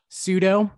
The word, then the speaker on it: pseudo: You left out the best silent P probably ever, in my opinion. Really? But Nathan, you go to yours. Me? I have a couple outside looking in. Pseudo, love a good pseudo name.